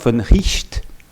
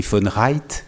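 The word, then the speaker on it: von Wright: Le philosophe finlandais, alors je le prononce comme, je ne sais pas si notre collègue finlandaise est dans la salle, mais Georg von Richt, ça s'écrit von Reit, si on le prononce à l'anglaise, qui est le successeur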